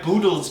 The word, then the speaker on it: Boodles: says this is my boodle's gym which rhymes with the noodles which is why i